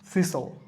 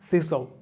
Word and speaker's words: tongue: Circuit, থাং, TONGUE, এখানে Yuta silent থাকছে, থাং।